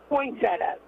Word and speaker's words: Poinsettia: Poncetta. It's like poinsettia. It's spelled that way.